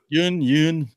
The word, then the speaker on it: Steven Yeun: Yeun young said how you say his name jung-yoon then he was damn good in this movie